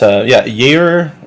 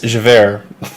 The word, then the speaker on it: Javert: We'll just get started by saying that, Jaeger, it's not Jaeger, it's Javert.